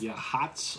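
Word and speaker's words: Yachats: will be your max yeah hots organ and we actually did say that right it's spelled your chats Y ACH 80s but it's pronounced yeah yeah all these Indian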